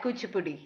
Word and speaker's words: Kuchipudi: uh did we have with you we had kuchipudi which a puddi that's what i showed you